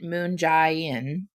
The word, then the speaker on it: Moon Jae-in: missile in around four years south korean president moon jae-in that's how you say his name has urged